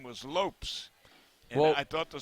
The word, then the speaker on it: Lopes: Lopes. Yeah. Oh. You So know, the name is spelled Lopes, but pronounced Pez, as in the candy.